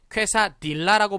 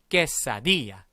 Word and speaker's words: quesadilla: 근데 어떤 분들은 가끔 발음 잘못해서 퀘사딜라라고 발음하신 분도 있을 수 있어요. 근데 아까 우리 배웠죠? 이거 딜라 아니고 디아였던 거 기억하시죠? 디아. 그쵸? 그런데 여기서 또 하나 신경 써야 될 발음 뭐죠? 여기입니다. 여기 발음이 쾌가 아니라 뭐라고 발음해야 될까요? 그렇습니다. 깨라고 발음해야겠죠?